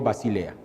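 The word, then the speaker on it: βασιλεία: del reino de dios rey no se dice en griego basilea basile ya tus digo el reino de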